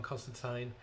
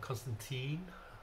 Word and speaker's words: Constantine: DC Comic is hellblazer John Constantine or Constantine as the Americans say um dead in America